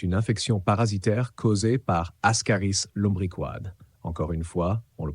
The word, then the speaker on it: Ascaris lumbricoides: Elle est causée par un ver rond appelé Ascaris lumbricoides, que l'on prononce Ascaris lumbricoides.